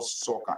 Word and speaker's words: Sokan: Honorable Sokan, are you there? You want? Yeah, how are you? Rosianso, okay. How are you? Good to have you here at the Honorable Jeremiah Gao Sokan.